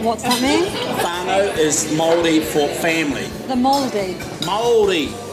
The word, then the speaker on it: Māori: Oh, the Māori. That's the correct pronunciation.